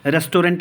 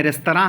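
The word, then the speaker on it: restaurant: 2-4 अंग्रेज़ी के शब्द सीख लेते हैं, भैया रेस्टोरेंट नहीं है रेस्तरां है, और जॉनर नहीं है जार है, जॉनरा है, और रेनेसांस है।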